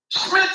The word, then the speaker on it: Smitrovich: he picked his set up and he goes SMI Ric said it right right he said it right